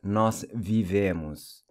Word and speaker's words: vivemos: So we live is nós vivemos. Notice how the O is pronounced like a U.